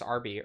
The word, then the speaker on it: herb: I I say herb you say herb with a with a with a almost silent h herb an herb herb you're not a herb no it's just ARB herb herb what's what